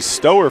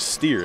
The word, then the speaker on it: Steer: finds a cutting mckenzie stower for the basket steer excuse me apparently the pronunciation is steer and mckenzie steers on